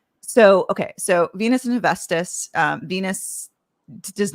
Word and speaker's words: Hephaestus: tell us, is essentially more forced to marry Hephaestus. That's how I pronounce it. But how do you pronounce it? Mm-hmm. Hephaestus. Mm-hmm. Hephaestus.